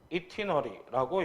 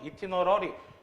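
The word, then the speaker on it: itinerary: 이번엔 여행 일정표인데 실제로 놀러 가는 여행만 나타내는 게 아니라 출장도 이티너리라고 얘기를 하지. 발음은 이티너리 또는 이티너러리 또는 아이티너리 이렇게 둘 다 발음이 가능한데 주로 아이티너리라고 하면 누가 보내는 거야?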